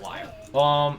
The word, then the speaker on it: lyre: It's pronounced liar.